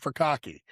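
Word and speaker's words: furikake: So for some of you guys want to try it, furkake. Please make sure you say it correctly. Don't go in the grocery store looking for bukkake.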